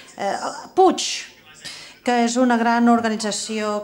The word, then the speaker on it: Puig: La gent en aquella sala, doncs totes treballaven per una organització que es deia Puig, em sembla que es pronuncia. Puig, que és una gran